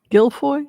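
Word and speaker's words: Giuffre: Gilfoy. Is that what they also say? Gilfoy. Virginia Gilfoy. I guess it depends on if it's the French French or the English pronunciation, right?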